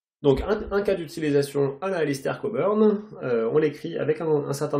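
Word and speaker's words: Cockburn: décrire les new skies qu'est la manière d'alistair coburn qui entre parenthèses se prononce comme ça pour respecter la prononciation à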